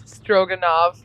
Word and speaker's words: Stroganov: that is his name it's stroganov like like beef stroganov yes oh God here